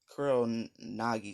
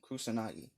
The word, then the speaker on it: Kusanagi: And Sasuke gives him his Kurl Nagi sword.